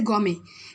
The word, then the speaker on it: gourmet: Foodie का synonyms है gourmet. It's not gourmet, it's gourmet. T is silent here, so we'll pronunciate it gourmet.